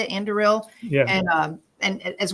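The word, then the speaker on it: Anduril: of andil is that how you say it andil yeah and um and as well as Peter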